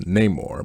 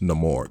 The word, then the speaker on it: Namor: sequel was no more in the comics it's pronounced Namor but in this film it's no more there's sort of an